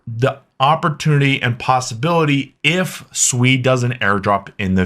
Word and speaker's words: Sui: And first off, how's it pronounced? It is Sui. It is not Sui.